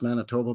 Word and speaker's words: Manitoba: Like the way I pronounce Manitoba, by the way. Manitoba. Because that's how they say it out there, eh?